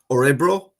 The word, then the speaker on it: Örebro: Örebro. Good man yourself. Örebro. Okay, so because people will be wondering how to pronounce that.